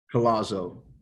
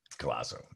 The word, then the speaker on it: Collazo: was your last name collazo collazo okay it's an italian last name forget about it yeah